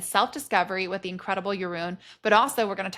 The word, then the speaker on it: Jeroen: to hear how you say it it is Yun Yun I'm I'm going to try I'm going